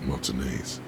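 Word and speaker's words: Martinaise: have reason to visit Martinez. I finally figured out a way to pronounce that. To remember how to pronounce that. Mayonnaise. That sounds exactly like mayonnaise.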